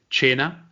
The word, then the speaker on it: Cena: to learn right now Cena which is pronunciate 'add China imagine imagine it like CH e and China means dinner